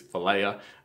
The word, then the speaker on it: philia: I'm not a Greek scholar, but I think it's philia, like where they get the word Philadelphia, like brotherly love, like friendship.